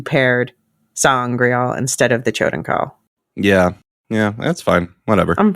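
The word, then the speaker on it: Choedan Kal: there's something called the Choden Kal. I've always said code and call. I think that's how they say it in the book too.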